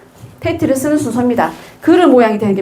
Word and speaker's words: ט: 티이라고 읽겠죠? 히브리어는 오른쪽에서 왼쪽으로 그죠? 읽습니다. 테트.